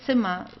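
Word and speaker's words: Zimmer: a at the end you can just say simma so it's would be just like an a at the end simma this is how we would pronounce it okay fa fa so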